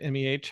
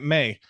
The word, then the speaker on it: meh: I need to know how you pronounce that word, MEH. How did you pronounce that? Meh? Curt? Yeah, how did you pronounce? You kept calling it May. I'm like, listen, Justin Timberlake, it is meh.